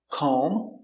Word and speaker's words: comb: end when you have MB at the end the B is always silent and in this video